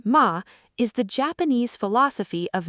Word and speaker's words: ma: Ma, pronounced ma, is the Japanese philosophy of negative space, or the intentional pause between actions.